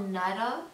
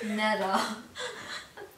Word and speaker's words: Nada: Okay, like just I really love it because her name is Nada. It's not Nada as like nothing in Spanish, but it's Nada. Okay, there's a difference in pronunciation.